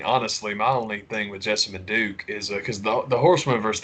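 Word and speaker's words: Jessamyn Duke: The Alexander Wolf, Vanessa Bourne, and Jessima, I can never say her name right. Jessima Manduke. One. Jessamine Duke. Yeah, that was it.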